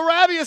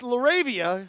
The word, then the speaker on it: LaRavia: it's a jump ball laravia laravia I think is how you say it there are some creative